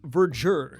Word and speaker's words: verdure: Now, I actually had to look that word up, and it's pronounced verdure.